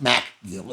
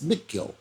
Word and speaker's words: McGill: It's not MacGill, it's McGill.